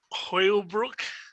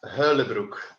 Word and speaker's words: Huylebroeck: you your last name is it Hoyle Brook uh close enough it's Hurley Brook yes okay I didn't